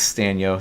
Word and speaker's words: Stanyo: It's hard to spell, but it's Stanyo. So I just try to make it easy for you with rhyming with the Team Stanyo Clanyo and the Team Stanyo